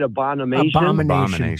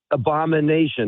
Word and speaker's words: abomination: that was an abon how do you say abonomation Um, abomination. There you go.